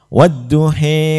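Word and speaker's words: والضحى: Mango lihat itu namanya imalah untuk Imam Wars dibacanya tagline wadduhe wallaili idza saji mawadaaka ROM buka wa memang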